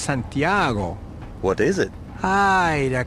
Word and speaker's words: Santiago: may be of help Camino De Santa Claus ha it is pronounced Santiago what is it hi